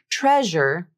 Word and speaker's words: treasure: For example, the zh consonant in the word treasure is always pronounced with 100% of its voicing. Treasure, treasure.